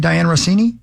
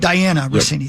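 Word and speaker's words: Dianna Russini: Diane Rossini? Mm-hmm. Diane Rossini, right? Yeah. Diana. Yep. Diana Rossini.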